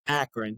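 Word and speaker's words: Akron: So, growing up in Akran, is that how you say it, right? Or is it Acron? Akran. Yep.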